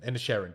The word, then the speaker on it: Inisherin: Inisherin.